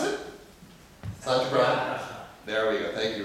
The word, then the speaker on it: Satyagraha: Pronounce it? Satyagraha.